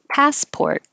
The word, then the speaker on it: passport: right here downtown um passport the vowel and the stressed syllable pass is ah so open and keep your lips back passport and the port you have to round your lips so it's a lot of movement pass pour and hold the t passport and 11 password and